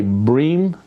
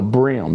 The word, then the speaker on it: bream: don't like it when people say bream when it's a brim. Do you know bass? You go bass fishing and maybe catch some brim. And it's spelled B R E A M. And but it's brim.